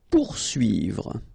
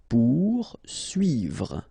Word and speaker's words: poursuivre: Poursuivre. Okay, so remember that when you get this combination of O and U, you will get the sound OU. Okay, so pour, and then U and I here, UI.